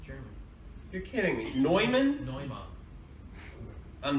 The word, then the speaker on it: Neumann: bowl directly against a highly sensitive, professional grade Newman microphone, the microphone doesn't dent. Not that I know of, anyway. It's pronounced Neumann. Is it really? It's German. You're kidding me. Neumann?